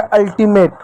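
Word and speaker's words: ultimate: हो गया अल्टीमेट। अब इ क्या हो गया? ई साइलेंट होता है।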